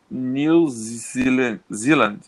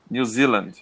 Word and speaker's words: New Zealand: Australia to the right hand side okay the pronunciation is New Zealand New Zealand that's it okay and the people in New